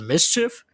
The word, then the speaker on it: MSCHF: about uh is that alice pronounced a mischief mischief yeah okay mister to